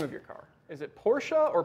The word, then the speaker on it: Porsche: well let me ask you how do you pronounce the name of your car is it porsche or porsche it's porsche okay if you say so no